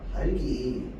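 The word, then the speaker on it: 닭이: 자, 얘 발음 어떻게 하는데? 아니야, 달기.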